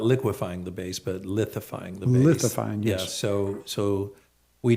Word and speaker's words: lithifying: So not liquefying the base, but lithifying the base.